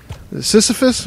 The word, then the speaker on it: Sisyphus: Sisyphus, whatever? Try to roll it up the hill and it's going to keep falling back down. I think it's Sisyphus, that's how you pronounce it.